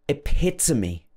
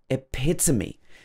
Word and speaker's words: epitome: You might hear some people saying this, or you might say this, but it's not strictly the correct pronunciation. Number four, epitome. Epitome.